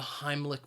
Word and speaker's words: Heimlich: person the Heimlich maneuver now Heimlich has two syllables and the stress is on that first syllable Heimlich and I think that second syllable even though it's spelled with ACH it's not a CH sound it is more of a cake sound Heimlich and maneuver has